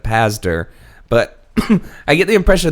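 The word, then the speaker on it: Pazder: I keep wanting to pronounce his name backwards and say Padzer instead of Pazdar, but I get the impression that Dr.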